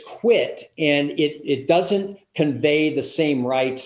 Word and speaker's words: quit: that too many people they they think it's pronounced quick q-u-i-c-k and it's quit and it it doesn't convey the same rights